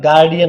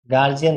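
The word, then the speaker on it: guardian: होगा कैम्ब्रिज में, तो इसका जो उच्चारण होता है वो क्या होता है गार्डियन होता है, क्या होता है गार्डियन, गार्जियन नहीं होता, ये गार्डियन होता है, क्या होता है गार्डियन।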